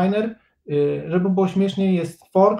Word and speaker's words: niner: I właśnie to nine również jest przerobione na niner, żeby było śmieszniej, jest for, który jest fower, ale tego się właściwie nie używa. Zresztą od niner się w sumie też